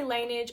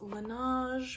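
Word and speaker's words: Laneige: I always say Linage and you guys get pissed off at me. Apparently, it's pronounced Lan, but I'm just going to say Lanage because that's how it rolls off my tongue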